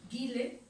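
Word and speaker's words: Gilles: muy bien, pero es se escribe Guille, pero es Gile Lipovetsky, que tiene un libro interesantísimo que se llama La felicidad paradójica.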